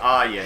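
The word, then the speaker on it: Ariya: de barbie are you it's pronounced are you sorry i was looking up a decent partner for him and and i found a q a he didn't ask me anything on the reddit and he said it's pronounced arya as in are you going to the mall today so i'll try and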